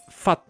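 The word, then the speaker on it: 發: And that is very similar to modern Cantonese, where that character that's fa from fa in or chu fa, that's pronounced fat, what they just said.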